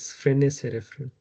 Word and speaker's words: Frenet: pronounce it clearly but it's f r e n e t uh I think t is silent and even s so